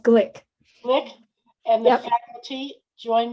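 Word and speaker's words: Glueck: our president dr nelson luck actually is pronounced glick flick and the faculty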